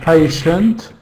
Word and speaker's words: patient: awah sound in it patient yes patient it's got a schw sound in the second syllable pay is the first